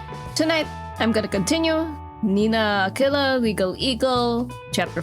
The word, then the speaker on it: Aquila: Mandarin is pronounced Aquila like Aguila.